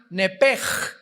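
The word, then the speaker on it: נפש: que al salírsele el nepesh, apúntalo ahí, el alma en el hebreo es nepesh, se pronuncia nepej. La ch en hebreo se pronuncia como J.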